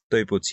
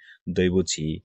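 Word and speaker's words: 台北: মানে কি বাবা ঠিক আছে তাহলে বি এর উচ্চারণ কি প এবং বলা হয় যে চাইনিজ ল্যাঙ্গুয়েজে সরি বলা হয় যে তৈপি সরি তো এটাকে অনেকে ভুল করে বলে যে দৈব হ্যাঁ অর্থাৎ ডি আছে ডির উচ্চারণ কি ত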